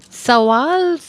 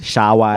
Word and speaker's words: Shawwal: Sawal. Correct. Oh, correct. Woohoo. Okay, but the pronunciation is It's- Shawwal. Oh, Shawwal.